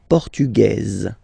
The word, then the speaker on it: Portugaise: You write them differently, but then, if you listen carefully, Grec, Grec, you pronounce them the same way, okay? Le Portugal, Portugais, Portugaise. Okay, so listen carefully. Portugais, Portugaise.